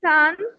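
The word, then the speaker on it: 七: Seven, seven এটা তো first tone, এটা হবে সি, সি এরকম।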